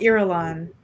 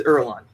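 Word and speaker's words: Irulan: you say her name i think it's ireland that's how that's how the audiobook said it but apparently the audiobook was wrong yeah so princess erlang who would you like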